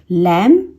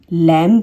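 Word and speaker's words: limb: लैम, लैम, लैम्ब नहीं होता।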